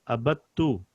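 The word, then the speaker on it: عبدتُ: When there is a ta and there is a shadda on it, you don't pronounce the dal here. So you go straight to ta. Abattu.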